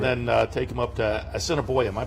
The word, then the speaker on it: Assiniboia: Claimed him down at Churchill, and then take him up to Assiniboia. Am I pronouncing that correctly?